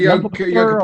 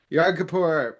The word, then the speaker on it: Yom Kippur: Yunk Kapoor? Kapoor. Yom Kippur.